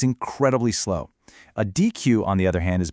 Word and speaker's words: deque: It's pronounced deque, and it's short for double-ended queue.